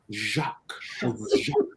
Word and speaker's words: Jacques: How do you pronounce it? Jacques.